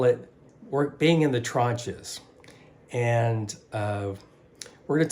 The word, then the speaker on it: tranche: work being in the tranches and uh we're going to talk more about what a tranch is and I really didn't mispronounce that it's not trench it's trunch but it's very important